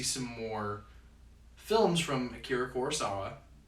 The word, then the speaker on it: Kurosawa: more films from Akira Kurosawa. Hopefully I pronounced his last name is a lot of vowels. And Kurosawa, yeah. Kurosawa, okay. Yeah.